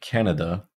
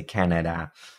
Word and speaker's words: Canada: So most vowels and syllables that are not stressed are reduced to schwas. So we don't say Canada.